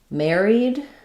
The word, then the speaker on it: married: Married. We have the letters A R saying the air dip thong first syllable stress and then I E says E here married.